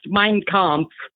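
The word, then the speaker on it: Mein Kampf: lady hey brother okay first it's pronounced mine comp M how do you say Hitler's book M mine mine like a land mine oh okay mine comp yes sir okay well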